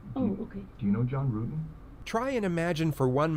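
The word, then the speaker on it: Ruetten: John Rutten? Rutan. The investigators already knew how to say John Rutten's name correctly. The mispronunciation was a simple strategy to see how the suspect would react.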